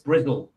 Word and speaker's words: Bristol: No, it's not pronounced Bristol. It's Brizzle. It's how they pronounce it down there.